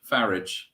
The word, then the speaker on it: Farage: to call him because his name rhymes with garage farage no I don't give